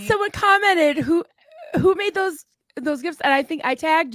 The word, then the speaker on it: GIF: So it's a hard G. Okay, so it is GIF.